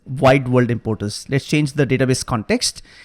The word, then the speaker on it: Wide World Importers: I pronounce this right it's not worldwide importance it is wide world importers let's change the database